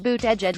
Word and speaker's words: Buttigieg: Surname is pronounced Buttigieg.